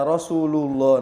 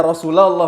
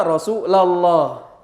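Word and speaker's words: رسولَ الله: Yang paling sering Rasulullah ada selawatan enggak sesuai kaidah lagi. Ya Rasulullah. Nah, siapa yang ngajarin nahunya? Itu kan nahunya ya Rasulallah. Maksudnya mau selawatan pasti benarbnya gitu. Ya Rasulallah. Karena dia mansub.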